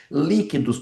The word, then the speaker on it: líquidos: Líquidos. Opa. QU pode ser dígrafo quando u pronunciado. Eu falo líquidos ou líquidos. Opa, eu não falo U, então significa que eu tenho dígrafo.